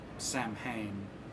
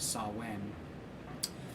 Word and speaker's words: Samhain: the jigsaw from the movie saw sam from Samhain witch is mispronounced it should be pronounced to saw when but Sam the kind of evil protagonist antagonist